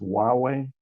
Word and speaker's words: Huawei: By the way, I think the name of the company that's being referenced is pronounced Huawei, and I feel a little bit.